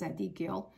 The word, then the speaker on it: Zadkiel: That's the way you pronounce Zadkiel.